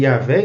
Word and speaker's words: Yavé: e resultou em Jeová Jeová e yavé estaria mais correto Então por que que